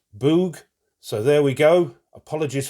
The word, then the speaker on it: Bug: Yes, not Bug. One of my subscribers kindly told me that it's pronounced Boog, so there we go.